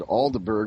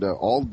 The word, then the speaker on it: Aldeburgh: I said Aldeburgh, but they said Aldbur or something of that.